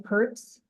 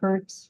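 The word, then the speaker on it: Pirtz: Yes, this is Pertz, R-E-N-E-E-P-I-R-T-Z, Pertz from Prairie County.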